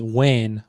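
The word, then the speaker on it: وين: This is an Egyptian dialect and I know this because he uses the word fain. In Kuwait, we would say the word as wain with a W rather than an F.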